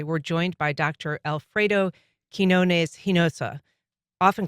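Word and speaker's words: Quiñones-Hinojosa: Quinones-Hinojosa.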